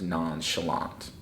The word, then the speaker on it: nonchalant: So the word is pronounced nonchalant.